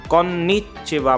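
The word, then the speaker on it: こんにちは: थोड़ा सा डिफरेंस है, अगर हमारा वर्ड 2 कॉन्सोनेंट इकट्ठे आ जाते हैं तो हमें स्ट्रेस डालना होता है उस जगह पे, कोनिचिवा।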